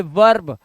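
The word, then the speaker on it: verb: ये ई का उच्चारण आ हो गया हमारा, क्योंकि आर आया है ना बाबू लास्ट में, इसलिए ई के बाद आर आएगा तो लफड़ा होगा होगा।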